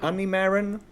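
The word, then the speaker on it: Honeymaren: This new card from Set 7 called, I don't know how to pronounce it, but Honey Marin. Yep. Honey Marin.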